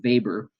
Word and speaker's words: Weber: symbolic interaction theory is Max Weber that's the W pronounced as V social action is equals